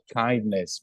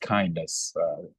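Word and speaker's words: KINDNS: so um it is it is pronounced kindness because sometime we hear people asking what is the right way to pronounce this it is just kindness and it tend to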